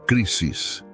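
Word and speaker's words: κρίσις: Para entendermos este processo de separação e decisão, podemos olhar para a palavra grega crises. Se pronuncia crisis.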